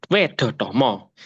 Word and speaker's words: Wedhatama: kulo badhe Bika Tun ee ngwedaraken seisinipun serated wedotomo ini bisa dibaca ya Em e teman-teman sekalian ini bacanya wedotomo bukan wedotomo salah ya salah ya